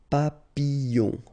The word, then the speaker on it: papillon: So you've got I, and in that case, well, you will have to pronounce I and then the y. Okay, so you get fille, fille. All right, next example is papillon, papillon. Okay, so you have to pronounce this I.